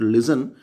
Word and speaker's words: listen: you so tar sound but listen T is silent no toss out silent